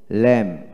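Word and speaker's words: lamb: তারপর আসেন এল এ এম বি কি হবে ল্যাম ল্যাম।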